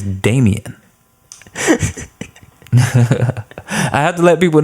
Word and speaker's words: Daemaine: My Instagram handle is @Daemaine, DAEMAINE, like Daemaine. That is really my name. That is really how you spell it, and it's not pronounced Daemaine. It is Damien.